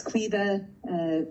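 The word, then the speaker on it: Caoimhe: My name is Quiva, which is a little bit incongruous when you see the spelling of it, but it's Irish, hence its unpronounceability.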